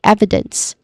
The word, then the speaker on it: evidence: and lastly evidence which which also has three syllables which stress on the first syllable e which has a short e vowel sound and then followed by second syllable e short e vowel sound which is soft also. And lastly the last syllable is dense.